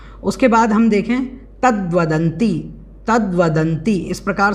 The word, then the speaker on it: तद्वदन्ति: उसके बाद हम देखें तद्वदंती, तद्वदंती, इस प्रकार से इसको बोलना है, दा में वा जुड़ा हुआ है।